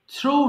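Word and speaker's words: threw: So still চুরি করা, still, stole, stolen, ঠেয়ার ছেঁড়া, ঠেয়ার, ঠোর, ঠোর্ন, থ্রো নিক্ষেপ করা, থ্রো, থ্রু, থ্রোন। আচ্ছা, এটা খুব কমন মিস্টেক, আমরা বলি থ্রিউ বলি, আমরা জানি এটা থ্রু বলবো।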